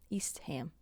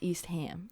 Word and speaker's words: Eastham: ham at the end but this one it said that you do say ham at the end so it'd be like